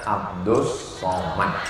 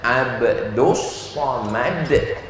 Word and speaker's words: Abdul Somad: Namanya Abdus Somad. Tulisannya Abdul Somad. Tapi cara bacanya Abdus Somad.